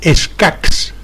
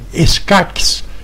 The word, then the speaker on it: escacs: Un castellano las pronunciaría tal como ocurre hoy con las palabras que acaban en ch, como vich, lluch, escach. En cambio, un catalano parlante las pronunciaría con q final, como vic, lluc, escac.